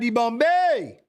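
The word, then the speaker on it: Dibombe: We've got Ali Akhmedov, Pierre-Hubert de Bombay. That is how you say it.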